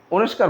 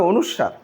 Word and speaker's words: অনুস্বার: বা দন্তন্য বা অনুস্বার এটাকে আপনারা অনেকে অনুস্কার বলেন এটা হবে অনুস্বার এইগুলো যদি কোন বর্ণ